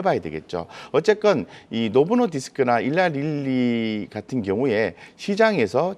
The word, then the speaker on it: 노보 노디스크: 간단하게 이제 한 가지만 코멘트를 하자면 어 저 노보노디스크 이제 말씀하셔서 그런데 이제 덴마크에 이제 글로벌 압도적인